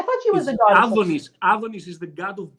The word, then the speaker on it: Antonis: Okay, in a Greek way, Adonis.